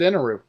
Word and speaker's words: Enel: Enel, Inaru. I mean, in the dub, they pronounce it Inaru. It's spelled like Enel.